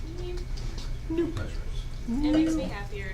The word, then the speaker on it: no-op: They had no ops, or as some people like to pronounce them, noops. Noops. But it is no op, no operation.